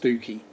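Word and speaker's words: Stiffkey: we come on to stifky marshes although in the norfolk pronounced stooky yeah this is yeah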